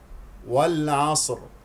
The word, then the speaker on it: والعصر: والعصر. هنا في هذه الكلمة الألف واللام قمرية، الع ع، والصاد ساكنة، والراء سوف نقف عليها بسكون وبتفخيم لأنها ساكنة، قبلها ساكن قبلها مفتوح.